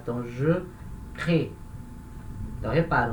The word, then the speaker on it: crée: Quando eu conjugo na primeira pessoa do singular, esse E no final já é fraco, então ele não vai ser pronunciado. Então, je crée.